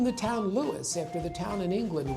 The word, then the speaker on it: Lewes: name, and we've been Lewis, two syllables, ever since.